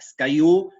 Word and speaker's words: SKU: SkyU, digamos, en inglés está pronunciado, se pronuncia SkyU. El acrónimo que define eso es la S, la K y la U.